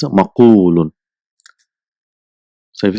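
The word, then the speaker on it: مقول: So it is difficult to pronounce maqwulun. So instead of that, one waw is dropped and a dhamma is given to fa kalima, is maqulun.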